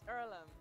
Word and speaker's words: Earlham: what opportunity can do is it ireland is it pronounced earlham it's earlham and it's a place for